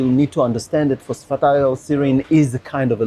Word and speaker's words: phosphatidylserine: lot of people do but it's a phosphite all serine you're very close Matt very close phosphatidyl serine or PS for short very